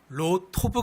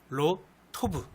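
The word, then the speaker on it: לֹא טוֹב: 다할 때 좋지않다는 그 말을 히브리어로 발음하면 로 토브 가 되요 로 토브 그럴 루토 구에서 로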